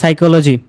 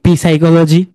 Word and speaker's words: psychology: মনে করেন এখানে কি বলছে, সাইকোলজি, আমরা কি বলি পি সাইকোলজি? নো, আমরা কি বলি ফি নিউমোনিয়া, কি বলি, শুধু বলি নিউমোনিয়া।